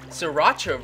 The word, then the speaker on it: Sriracha: Sriracha rhymes with muchacha.